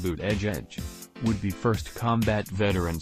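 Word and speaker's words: Buttigieg: of Notre Dame academics surname is pronounced loot edge edge would be first combat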